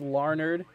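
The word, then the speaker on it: Larned: Jan says yes uh it's pronounced larnerd is it really see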